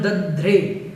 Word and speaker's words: दध्रे: उसके बाद में दध्रे, दधरे, दधरे नहीं, कुछ लोग दधरे बोल देते हैं, वो बिल्कुल गलत है, आपको उच्चारण अपना ठीक रखना है, दधरे।